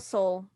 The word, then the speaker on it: Soule: How do y'all pronounce his last Carl name? Soule.